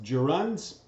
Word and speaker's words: gerund: chapter pronouns and runs that word is pronounced gerunds 10 2011 used a